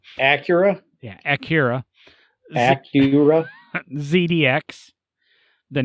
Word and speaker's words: Acura: three is the 2010 Akira or I can't ever everybody says I pronounce it wrong live with it people Acura yeah Akira Acura ZDX